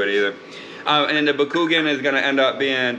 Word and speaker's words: Bakugan: no can't do it either um and the bakugan is gonna end up being back again it